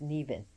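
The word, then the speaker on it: Nemain: associated with nean she's it's spelled NE m a i n but is nean which means venomous and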